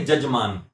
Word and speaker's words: यजमान: जैसे संस्कृत में य जब लिखते हैं तो उसका जब उच्चारण किया तो ज किया जाता है। जैसे यजमान बोला जाता है, जजमान लिखेंगे, यजमान बोलेंगे, जजमान, यजामहे जजामहे बोलते हैं ना।